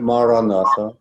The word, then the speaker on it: Maranatha: you choose this word Maranatha say it is four syllables mark rah rah rah